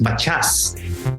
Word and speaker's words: Matias: But when I came here, and actually the pronunciation of my last name in the Philippines was Matias. And here it became Matias.